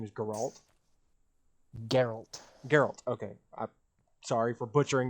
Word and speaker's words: Geralt: You know, like I knew it was like Geralt or Geralt or something like that, but I knew it wasn't like a G or a J sounding name.